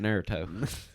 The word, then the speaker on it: Naruto: Naruto Naruto Naruto say it right that's at Naruto you bastard yeah Naruto yeah Naruto it's like